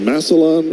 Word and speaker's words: Massillon: Is it Massillon, Ohio? That's where he was born? If that's how you pronounce it.